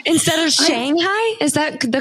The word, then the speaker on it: Shanghai: I've been saying Shanghai wrong my whole life. Oh, is gosh. it Shanghai instead of Shanghai?